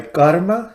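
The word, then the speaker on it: Garma: But the only translation that exists is in a volume called Mahayana Sutras, I believe, translated by Karma, spelled with a G, G-A-R-M-A, Chang, C-H-A-N-G.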